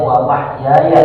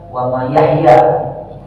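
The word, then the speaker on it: وَمَحْيَايَ: Bacanya wa mahyaya ya, bukan wa mayahya.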